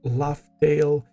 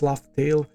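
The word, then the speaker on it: Laugh Tale: And when they pronounce Laughtale in this movie, it sounds like Raftel, right?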